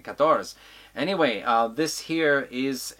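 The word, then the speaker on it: Katorz: one here called katars spelled phonetically with k-a-t-o-r-zed but pronounced katoras as in the french number for 14 kators anyway uh this here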